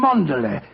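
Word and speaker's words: Cholmondeley: Ch M Manderlay.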